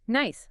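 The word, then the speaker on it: gneiss: Nice. And it's pronounced nice, which is helpful, right?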